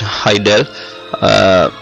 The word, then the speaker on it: HIDL: interface definition language or hide pronounced heidel is an interface description